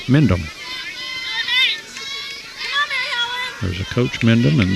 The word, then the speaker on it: Mendham: So runner at third and 2 outs, and now here's Mary Helen Mendham, which looks like Mendheim, but some silent letters in there. Mendham.